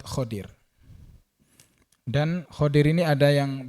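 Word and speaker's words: خضر: khodir ya khodir itu ada yang membacanya Khidir ada yang khodir dalam buku-buku yang saya baca itu lebih kuat khodir dan khodir ini ada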